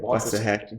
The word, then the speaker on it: Waxahachie: Waxahachie.